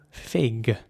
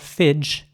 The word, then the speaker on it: fig: And the important thing here is to pronounce the G at the end like a G. Fig. Not fidge, but fig.